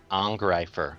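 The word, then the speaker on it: Angreifer: Pronounce the EI as a hard R, as a hard I. Ungreifer. Angrifer.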